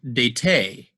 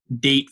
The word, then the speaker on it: date: e at the end the e is silent we don't say det that e is there to indicate that this word's not dat fat or lat it's date fate and late it makes the vowel long so notice the same